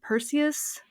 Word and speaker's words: Perseus: And also with the original mythology like in what what how do you pronounce his name? Perseus.